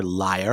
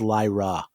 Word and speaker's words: Lyra: Well, you'll find neither here, liar." And he's like, "No, no, it's Lyra. That's uh you're pronouncing it wrong.